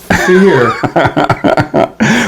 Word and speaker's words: Phere: Yeah, that was always the idea, but people just go straight and say fear, but it's really fear.